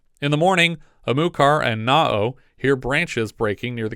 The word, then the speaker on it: Naoh: going to pronounce this na um it's like Noah with the vowels backward that's how he's credited